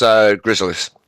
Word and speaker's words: Gryzzlyz: And I'm not too sure how to pronounce this new Hunter player we're seeing for the for what's their name? It's Gryzzlyz.